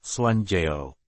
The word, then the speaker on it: Juan Diego: Juan Diego Cuauhtlatoatzin, juga dikenal sebagai Santo Juan Diego, dalam pengucapan bahasa Spanyol, Juanjeo.